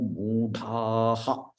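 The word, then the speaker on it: मूढाः: Naman dushkritino mudhaha. Here ha should be pronounced. Mudhaha.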